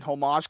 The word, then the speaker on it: homage: I thought they were going for like some sort of Death of Superman homage cover. No, I can see what you're saying. It's homage. The H is silent.